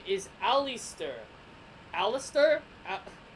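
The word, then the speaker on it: Allister: and her name is Alistair Alistair app like Alistair black spelled differently al li st t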